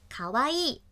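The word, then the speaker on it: かわいい: 的标志，读成卡哇伊。三调，低高高低。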